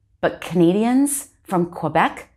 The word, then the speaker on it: Quebec: they'll pronounce it as quebec no u sound there even though there is a u americans may pronounce it as quebec but canadians from quebec say quebec except they